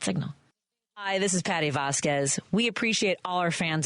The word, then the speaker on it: Vasquez: It's Vasquez, not Vasquez. Vasquez.